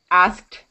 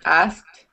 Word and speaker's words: asked: you pronounce that k asked asked it sometimes comes out like asked without the k but you should pronounce the k asked asked it sounds